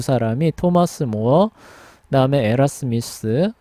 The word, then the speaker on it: 에라스무스: 그다음에 로테르담에서는 데시데리우스 에라스미스입니다. 예, 에라스무스라고도 발음하기도 해요. 그래서 가장 유명한 두 사람이 토마스 모어, 그다음에 에라스미스 예, 두 사람이 예, 돼요.